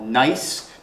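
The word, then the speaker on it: gneiss: banding and that rock is called nice notice how it's spelled with a G so the examples that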